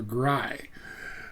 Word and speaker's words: ГРАЙ: It's a the the um accent is on the I part. So, Gry and the song is Farewell.